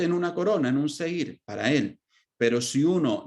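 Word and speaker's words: זֵר: capítulo 25:11, sin vocales, debería ser pronunciado sar, que significa extraño. Pero de acuerdo con la vocalización tradicional lo leemos como seir, que significa corona.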